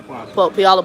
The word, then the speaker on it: Puyallup: Puyallup? Yeah. Did I say it right? Yep. Okay. Yellow Puyallup, Washington.